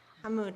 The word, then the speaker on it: Hamoud: Hamed about, and I hope I'm saying his name right. I think I always mispronounce it, sorry. I think it's Hamoud. Hamoud, thank you.